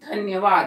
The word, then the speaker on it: धन्यवाद: ध्यान से करेंगे हम धन्यवाद धन्यवाद में आधा ना कोय धन्यवाद अ इस शब्द का